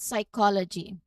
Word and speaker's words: psychology: For example, consider the word psychology. That initial silent P gives us a clue that word comes from Greek roots.